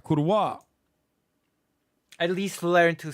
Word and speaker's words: Kurwa: That's right, Kurwa. At least learn to say the word, please. Like, at least learn to pronounce the word. It's with a hard V.